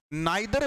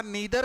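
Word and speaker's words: neither: भाई, क्या सुना होगा, ईदर के बारे में, लेकिन बोलते गलत हो, आइदर बोलते हो। क्या बात यार, प्रोनाउंसिएशन इतनी खराब किसने करवाई है आपकी। नाइदर बोलते हो, होता नीदर है।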